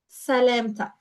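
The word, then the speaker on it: سلامتك: Salamtak. Addressing a male, sa, lem, with a long vowel a, lem, tak.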